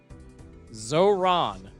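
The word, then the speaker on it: Zohran: Pron pro pron pronunciation pronunciation zoron mum donnie dude I'm literally saying it right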